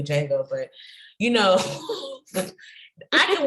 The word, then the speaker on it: Django: Like Django. I don't know why I said Django, like that's how you pronounce it. It's really Django, but you know, I can watch that movie every single day.